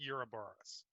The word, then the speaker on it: Ouroboros: It is officially pronounced Ouroboros.